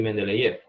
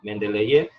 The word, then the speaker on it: Mendeleev: un ordenamiento fue Dmitri Mendeleev. Yo lo digo Mendeleev, a lo mejor me escucho en ruso y se ríe, pero Mendeleev es al menos como yo he escuchado cómo se dice. Entonces Dmitri Mendeleev fue el